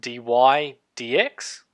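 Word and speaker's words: dy/dx: is the derivative is denoted by this is pronounced d y d x and so you would write d y d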